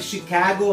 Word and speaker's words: Chicago: Swami Vivekananda the first speed he has given in Chicago Chicago no it is ship cargo but Chicago and uh Lucy kabocha Luke CH IC AG